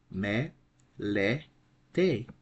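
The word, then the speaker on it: μελέτη: Me, le, te. Since we have an acute accent over the middle syllable, this is the accented syllable. The right pronunciation of this word would be then melete, melete.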